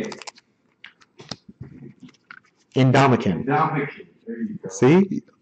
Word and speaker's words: Ndamukong: No, do it syllable by syllable. I'm not saying it looks right. No. But it's Ndamukong.